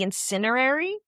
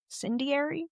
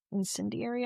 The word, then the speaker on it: Incendiary: But now the the next one here is The Incinerary. Incendiary. Incendiary. I think I'm pronouncing that right.